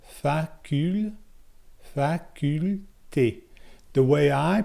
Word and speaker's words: faculté: For faculté, it's facule. So you pronounce that L. Facule, faculté.